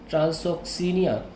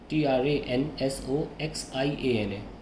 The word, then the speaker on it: Transoxiana: He then gave up his plans to invade Transoxiana and disbanded his large army. Kindly check the pronunciation of this word. Transoxiana.